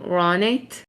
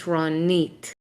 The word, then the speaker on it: Ronit: So for example, my name, Americans would usually pronounce my name Ronit, right? They would put the emphasis on the Ro, but in Israel, the emphasis is on the Nit. So my name is Ronit, okay?